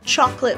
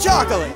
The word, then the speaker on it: chocolate: Willy Wonka sometimes says chocolate with three syllables. Get yourself some Wonka chocolate! Get yourself some Wonka chocolate! Get yourself some Wonka chocolate! And sometimes with two. You've never had chocolate like this. You've never had chocolate like this. You've never had chocolate like this. Both are correct.